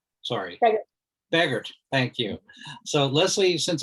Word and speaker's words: Begert: joined by scott cardwell and uh leslie beavert sorry beggart thank you so leslie since i've already butchered your name right off the bat do